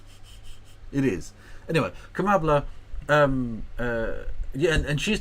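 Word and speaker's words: Kamala: is is bad um it's kambla it rhymes with cacaa it is anyway kambla um uh yeah and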